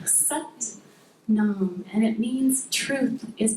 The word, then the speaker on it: sat nam: For set creo, we work with the mantra sat nam. It kind of rhymes with but mom sat nam.